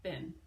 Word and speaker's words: been: the park E and it looks a lot like bean but it's pronounced been body moving your body